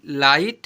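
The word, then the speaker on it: light: Example पर एफ आई जी एच टी फाइट एल आई जी एच टी लाइट एन आई जी एच टी नाइट एम आई जी एच टी माइट ऐसे पढ़ते हैं।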